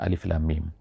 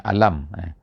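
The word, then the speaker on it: الم: memuliakan surah ini dengan Alif Lam Mim Alif Lam Mim bukannya alam ada di tempat-tempat yang lain dalam Alquran ini kadang-kadang alam taroh Kaifa fa'ala alam itu ejaannya sama Alif lam mim Tapi bacaannya alam tetapi di permulaan pada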